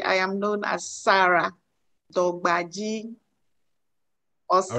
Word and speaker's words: Dorgbadzi: Am I pronouncing the name right? Dorgbadzi.